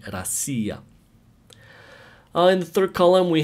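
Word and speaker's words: Россия: pronounced and the same when you write russia in russian the stress is not on the o so it's pronounced so it's written but it's pronounced rasia since the stress is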